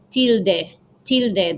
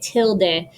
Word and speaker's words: tilde: has a name and it's called a tilde that's the spanish way to say it in english you can say tilde so um definitely write